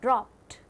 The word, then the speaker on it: dropped: word is dropped dropped when we pronounce this word it sounds stur in the last dropped not da and it means made